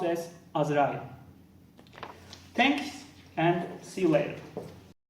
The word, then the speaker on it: Azrael: arch angel of that it is pronounced s as rally thanks and see you